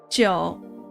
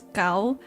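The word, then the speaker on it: 九: Nine in Chinese. The way you pronounce it is Joe, which is kind of like a pun on Joe, which means longevity, like a long time, a long just just like something that's very long in concept, not physically. And I'm like, I love the fact that it's like that. And if you were to say and pronounce the number nine in Cantonese, it's cow, right?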